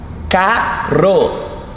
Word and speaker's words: caro: Caro is expensive. Something is expensive, isso é caro. So between vowels, the R sounds like your R.